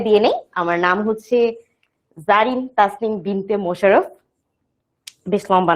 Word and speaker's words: Zarin: তখন আমার নামের বানানটা দেখতে পাচ্ছ, একটু ডিফারেন্ট লাগতে পারে তোমার কাছে, কি লেখা, ZARIN, জারিন, তাই না? কিন্তু এটা হচ্ছে যে আমার উচ্চারণটা কি জারিন, বাংলায় লিখলে ব্যাপারটা হচ্ছে কিছুটা এইরকম।